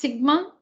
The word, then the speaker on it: sigma: it's a letter in the greek alphabet it's pronounced sigma which in statistics stands for summation or the